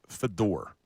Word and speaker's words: Fedor: His name was Fedor. Chris Fedor. Well, it's spelled like Fader.